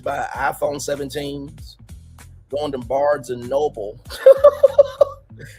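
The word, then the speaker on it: Barnes & Noble: Milagro's children talked about that she's buying iPhone 17s, going to Barnes and Noble. That's the correct pronunciation, but Milagro said Barnes and Nobles, and also talking about a family Christmas cruise.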